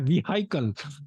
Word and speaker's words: vehicle: In German, it is called vehicle, because that's how it's spelled, right? Vehicle. But in English, for some odd reason, it's called vehicle. No H.